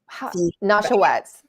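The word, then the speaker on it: Nesheiwat: How do you pronounce her last name? Dr. Jeanette, The Nashawetz.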